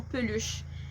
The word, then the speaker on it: peluche: Ou, tu sais, mettons, plus insidieux encore, mettons, peluche. Techniquement, on prononce pas vraiment le E, mais genre, est-ce que vous auriez prononcé peluche si j'avais enlevé le E?